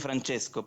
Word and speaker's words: Francesco: se llama frank francisco ser italiano sería francesco pero se escribe con seno francesco economía como en inglés